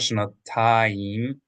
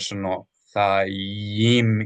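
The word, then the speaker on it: שנתיים: So not shanatayim, but shanathayim. Yim. There needs to be a Y, E sound.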